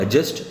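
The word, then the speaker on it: adjust: अब यहाँ पे एक वर्ड है, जब मैं इसको बोलता हूँ एडजस्ट, तो डी साइलेंट एडजस्ट।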